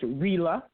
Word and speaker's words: Rila: That is pronounced Rila, like Sheila.